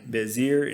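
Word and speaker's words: Bezer: And on the other side of the Jordan, by Jericho eastward, they assign Bezir in the wilderness on the plain. That's how you pronounce it.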